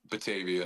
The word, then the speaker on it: Batavia: Batavia.